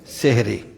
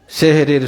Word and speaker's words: সাহারি: আমরা সেহরি বলি কিন্তু এই সেহরি শব্দটা ভুল উচ্চারণ কি হবে সাহারি সাহার মানে হলো ভোর প্রভাত সকালকে বলা হয় সাহার আর সেহেরুন মানে হলো জাদু সুতরাং আমাদের বলতে হবে ভাষাটা যেটা বলতে হবে সেটা হলো কি সাহারি সেহরি নয় এই সাহারি